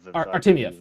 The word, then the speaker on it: Artemiev: As far as I know, I can't pronounce his last name. Artemiev. Artemiev.